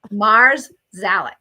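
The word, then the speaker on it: Marszalek: their last name is marzac so how do you spell that that's m a r s z a l e k yeah Mars zalic that's how I remember it yeah so um I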